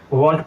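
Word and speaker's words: won't: हम बोल रहे हैं इसलिए यहां पर हम टी को साइलेंट नहीं करेंगे वंट पूरा बोलेंगे ठीक है वंट और वंट इतना टी को बहुत ज्यादा जाहिर नहीं करेंगे हल्का सा पढ़ेंगे ताकि लगे कि हां टी है और ठोकर बनने से बचाएंगे उसको ठीक है वंट वाज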